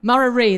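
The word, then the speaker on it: Murarrie: They're headquartered in Brisbane at Murari. Now, forgive me if I pronounce that wrong. I've only been here 6 months. Murari, there you go.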